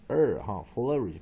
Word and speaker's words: flourish: 我们肯定 flower 了 flower flower 那它是 flourish 它是念 flourish 不是念 flourish 是 flourish 所以重音在第一个音节所以第一个音节在这个地方是 strong syllable strong syllable 那一样 main stress first syllable